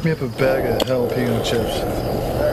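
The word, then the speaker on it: jalapeño: Pick me up a bag of jalapeno chips. All right. Oh, what flavor is that? Jason. Same. The J's like an H, Ricky.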